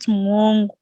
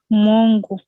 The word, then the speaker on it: mongo: So it's mongo, not mwongo.